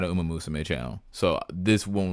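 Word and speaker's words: ウマ娘: I did not know that I was pronouncing Uma Musume wrong. Uma Musume.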